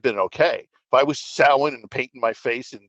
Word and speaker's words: Samhain: It's pronounced Samhain, not Samhain.